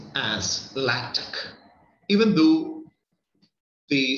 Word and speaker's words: LaTeX: first map now here normally the latter is pronounced as lactic even though the spelling is similar to the